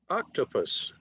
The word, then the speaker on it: octopus: Octopus. 3 syllables. Stress on the first one.